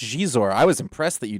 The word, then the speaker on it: Xizor: I always just said Xizor cuz I thought it was funny, but it was Yeah, it's It's like she, but See? So Josh, one thing we've talked about on the show is hot Xizor".